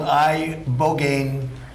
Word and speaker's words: ibogaine: In 2024 study from Stanford University, 30 special operation veterans with traumatic brain injuries underwent it's called ibogaine treatment. Ibogaine. Remember the name. Is that pronounced relatively properly, would you say?